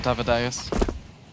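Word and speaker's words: dav1deuS: Might as well boost up Davideus. Davideus. Davideus. I wanted to say that the whole time. It's just in my head. It's how I remember the pronunciation. Like Amadeus.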